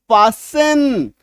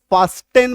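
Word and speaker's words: fasten: टी को काट दीजिए। अब पढ़िए। पासिन। गलत उच्चारण क्या हो जाएगा? पास्टेन पढ़ देंगे हम लोग इसको।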